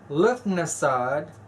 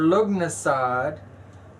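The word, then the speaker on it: Lughnasadh: I've heard this pronounced in several different ways. It's also pronounced Lamas or Lugnasad. I done said that. They kind of carried that out though a little bit. And Lunasa. Okay. But Luf or Lug is the best way that I like to pronounce it.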